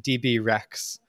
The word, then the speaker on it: DBRX: dbrx um or rather as it's now pronounced DB Rex um you know like the dinosaur and I have I